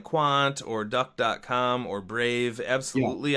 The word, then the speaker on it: Qwant: I don't know if you can get it on your computer, but it's called Quant. And that's QWANT is how it's spelled.